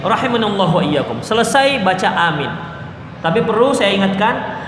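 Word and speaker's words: آمين: Tapi perlu saya ingatkan, bacaan amin bukan amin. Itu salah. Umumnya kita di masjid bacanya begitu. Ghairil maghdubi alaihim waladdallin. Amin. Panjang banget minnya. Ya. Salah bacaan seperti itu. Dia amin. Minnya cuman 2 harkat.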